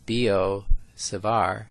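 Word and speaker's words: Biot–Savart: you first of all how to say b o sivar think of bo savar as the pronunciation of these names you recall when we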